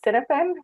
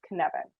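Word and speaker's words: Cynefin: learn how to pronounce kinevin i actually was pronouncing it as cinnamon for the longest time until i was corrected by one of my colleagues and ever since then i've really never forgot that it's connected not cinnamon so let's go to that question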